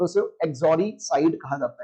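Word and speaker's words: uxoricide: Next word you have is एक्सोरीसाइड। देखिए, यू इसके अंदर साइलेंट रहता है, यू को नहीं बोलते हम। एक्सोरीसाइड कैसे बोलेंगे? एक्सोरीसाइड।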